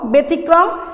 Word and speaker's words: ব্যতিক্রম: খাতায় তুলে নাও, জফলা যদি শব্দের আদিতে থাকে এবং তার পরের বর্ণে যদি রসিকার দীর্ঘিকার রস্যকার দীর্ঘকার থাকে তবে উক্ত জফলাযুক্ত বর্ণের উচ্চারণ একারের মতো হবে।